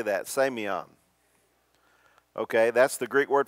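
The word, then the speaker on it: σημεῖον: word for sign in the new testament is pronounced sameon everybody say that sameon okay that's the greek word for sign now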